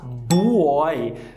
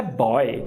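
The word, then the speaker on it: buoy: Então, por exemplo, quando você vai falar boia em inglês, você vê aquele U escrito e dá uma vontade gigante de falar boy, quando a pronúncia é boy.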